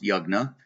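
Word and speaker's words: yajna: spelled Y A J na a but it's pronounced yagna and that's ritual offerings ritual offerings and sacrifices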